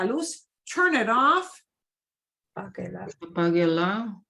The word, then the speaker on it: apáguela: Yeah, because you'll always say apague, like apague, apáguela, apáguela. We just add the la onto the end, and the la doesn't get more punch. We still focus on apague.